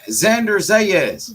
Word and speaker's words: Xander Zayas: mean how you say his name I'm trying Xander zayas Xander is yeah I'm trying to get his